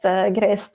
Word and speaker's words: Gresë: when I I asked grace to give me some guidance on how to pronounce her name and she said to me like well it's it's like saying grace but with a Scottish accent so now I just